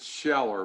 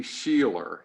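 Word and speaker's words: Sheler: guy's name is peter i pronounce it sheller but it may be sheila it's s-h-e-l-e-r peter schiller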